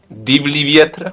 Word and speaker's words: Divlji vjetre: Yes, we're going to talk about the song that I never know how to pronounce. And somebody wants to volunteer? No. Robert, Divlji you can... vjetre. What? Divlji vjetre.